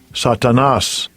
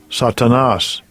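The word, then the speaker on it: Σατανᾶς: G 4567 and this is the Greek the pronunciation of it Strong's G 4567 satanas satanas all right the's lexican Satan Satan all right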